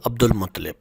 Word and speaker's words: عبد المطلب: ہاشم یا شبت الحمد، ان کو عبد المطلب، درست تلفظ عبد المطلب اس لیے کہا جاتا